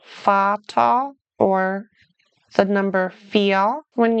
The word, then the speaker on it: Vater: So the first two words pronounce the V like an F. The second two words pronounce the V like the English V. Der Vater, the father.